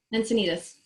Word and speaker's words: Encinitas: Encinitas, California, so just a little bit north of San Diego.